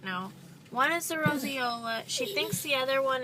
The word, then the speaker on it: roseola: Well, we just got out of the doctor, and Lachlan has roseola, which is the correct way to pronounce it, because that's how the doctor said it.